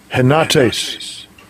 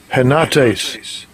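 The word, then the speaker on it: henotēs: Let's let Esau pronounce it in the Greek. Strong's G 1775. Henates. Henates.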